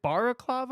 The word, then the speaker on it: balaclava: Is it balaclava or bala?